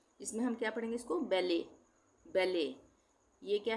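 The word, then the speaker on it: ballet: बी A double L ई टी। तो यहां पे टी साइलेंट हो जाएगा। यह फ्रेंच वर्ड है। इसमें हम क्या पढ़ेंगे इसको? बेले।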